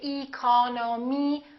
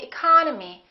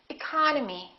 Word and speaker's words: economy: Look at the first word, economy. The second syllable is stressed, therefore this E and this O are reduced. We don't say economy, we say economy, economy.